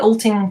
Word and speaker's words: Ulting: i'm sure you know called um ulting it's how you pronounce it alting church um and oh